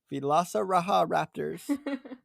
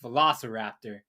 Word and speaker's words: velociraptor: over there those are the la sahara haptors villasa raja raptors i i like how the name changed just